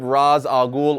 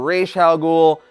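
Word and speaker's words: Ra's al Ghul: beat a godly powered raz agul or rachael ghoul however you want to pronounce it beating raza ghoul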